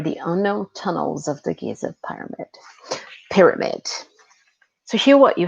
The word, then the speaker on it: Giza: This word is pronounced Giza.